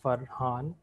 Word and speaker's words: Farhan: i'll start with myself my name is farhan like i said it's two syllables that's pronounced for han uh depending on whether